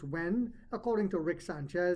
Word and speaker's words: yuan: digital when it's pronounced when I just found out that I used to say yuan but it's pronounced when according to Rick Sanchez says, "China is reshaping global trade and finance.